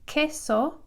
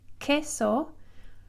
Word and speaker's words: queso: U right after, and it's pronounced like a K. So in this word here, you treat the Q and the U, queso, which is cheese, queso.